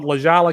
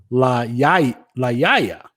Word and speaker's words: La Jolla: Now that I think about it, if it's a Spanish, that would be La Yaya. There would be no pronunciation of the L's.